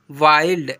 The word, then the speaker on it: wild: Example पर MIND mind, CHILD चाइल्ड, FIND find, यहाँ पर क्या लिखा हुआ है WILD वाइल्ड ऐसे पढ़ते हैं, ठीक है।